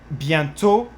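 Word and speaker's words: bientôt: je van twitten but for instance bientot you would not pronounce that and then a you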